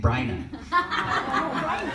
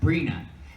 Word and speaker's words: Brina: were getting interviewed and the guy could not say her name kept saying Brian she kept correcting him like every few seconds she would not say it Brina and he wouldn't get